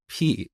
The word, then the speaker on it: pi: But I pronounced this word as P instead of pi.